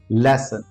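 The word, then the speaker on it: lesson: हम श पढ़ते हैं सो इसको हम लेशन नहीं पढ़े इट्स नॉट लेशन इट्स लेसन लेसन यहां पे स साउंड हो सो इन एक्सेप्शन को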